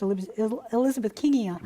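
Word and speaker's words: Elizabethkingia: I've also heard it pronounced Elizabeth Kingia. Well, that's by me, so I don't know what I'm talking about. Yes. You don't often hear this one pronounced because it's a bacterium that was discovered by a female doctor, scientist named Elizabeth King. But generally, when you pronounce these names, an I following a G, it makes it a J sound.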